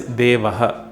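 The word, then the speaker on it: देवः: The Sanskrit word for it is Devaha.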